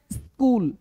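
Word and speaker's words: school: है बोलना क्या है स्कूल कूल अब देखो सिर्फ एस की बात ना करूं। यहां पे क्या बोलना है कि स्टार्टिंग में आई नहीं लगाना। यानी स्कूल को इ नहीं बोलना है।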